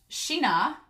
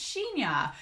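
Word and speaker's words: Shin-Ah: had Kija and then Shina, I hope I'm pronouncing that right. I may call him my boy Blue because I'm awful at pronouncing things, and everybody in the comments was like, it's Shinya.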